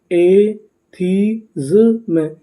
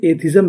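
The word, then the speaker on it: atheism: एथीज्म, एथीज्म, एथीज्म। एथीज्म का मतलब होता है नास्तिकता। अगर आप इसे चाहें तो इसे एथिज्म भी पढ़ सकते हैं। इसका सही उच्चारण क्या है? एथीज्म।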